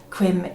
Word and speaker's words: cwm: My Welsh pronunciation is awful, so please bear with me, but quim is CWM, that's how it's spelled.